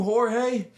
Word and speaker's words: Jorge: He was all like, "Man, I had a dude named Jorge, but I called him George." And he was like, "Man, that's not how you say it."